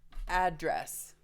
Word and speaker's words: address: that works the word address there's two different ways to say this word both of them have two syllables address if I make the first syllable stronger address address then it's a noun one of the meanings